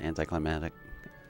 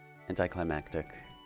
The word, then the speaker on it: anticlimactic: Everyone pronounces it anticlimatic. Anti anticlimactic climactic climactic climatic.